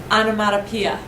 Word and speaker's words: onomatopoeia: This is pronounced onomatopoeia.